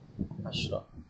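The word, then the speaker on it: عشرة: Shin ni dimatikan jika dia muannas asyrah. Jadi sini kita baca asyrah. Asyrah. Jadi yang selepasnya adalah muannas, kita kena matikan shin.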